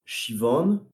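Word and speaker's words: Siobhan: Et ils ont une cousine qui s'appelle Shivan, mais ça s'écrit Sioban. Ah oui, ça n'a rien à voir, quoi.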